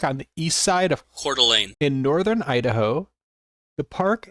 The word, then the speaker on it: Coeur d'Alene: And here, this is how you pronounce this place. Cordelane. Cordelane. Cordelane, Idaho. It's spelled so weird. It looks like French or something.